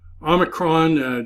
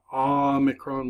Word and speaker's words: Omicron: X is nice approximation Omicron did you pick up that the name of that is little o Omicron like pot very close to an alpha in pronunciation but it's a short o sound PI P is n